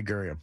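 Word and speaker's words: Gurian: Garion, is that how you say his name? Yeah, Jeffrey Guriam.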